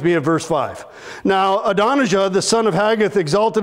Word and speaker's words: Adonijah: bad at them so if i confidently pronounce one of these hebrew names like adonijah that's because i've typed it in my phone and i hit the little button and it plays and it goes adonaija and then i say adonisha